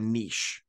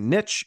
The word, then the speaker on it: niche: And the third one that's relevant to your niche. Some people say niche, it's actually pronounced niche.